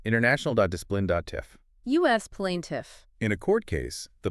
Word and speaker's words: plaintiff: Plaintiff, international.discipline.tif. U.S. plaintiff.